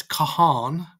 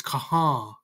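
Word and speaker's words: کہاں: noon n nah so the second n is almost not pronounced kah kaha not Kahan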